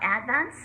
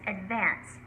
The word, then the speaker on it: advance: And it's not advance, it's advance.